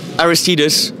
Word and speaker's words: Aristides: Aristides. Aristides. It's very... Trill. Aristides. And you have to say it angrily. With trill on the R? Aristides? Perfect!